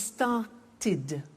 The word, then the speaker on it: started: group is actually easy if a verb ends with a T or D then the pronunciation of II D becomes it and in fact it's impossible to pronounce it any other way take an example start